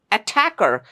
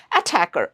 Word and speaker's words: attacker: It's attacker. We don't say attacker.